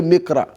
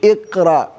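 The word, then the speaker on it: اقرأ: You don't say Mikra. No. Bismillahir Rahmanir Rahim, Iqra. Yes, you are going to pronounce the mim kasra and then you're going to pronounce the alif.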